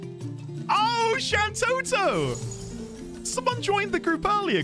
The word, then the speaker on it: Shantoto: Santoto. Oh, Shantoto. Someone joined the group earlier called Shanto, though I think I pronounced it Shanto.